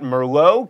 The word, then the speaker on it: merlot: pen then you've got merlot keep that tea silent and caramel three syllables